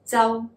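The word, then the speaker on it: Chau: actually number six is c-h-a-u or c-h-o-w pronounced in cantonese as cell the high-tone high-falling cell j-a-u with that cell that's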